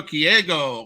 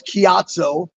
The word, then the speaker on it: Ciatso: his name is KGO how's it going well I'm going to go ahead and and go ahead and let's pronounce my name right first pal it's katoo as in low key kyat say with me